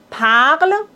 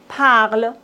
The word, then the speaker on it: parle: Attention, dans la conjugaison des verbes, on ne doit pas prononcer E, N, T. Il parle, il parle.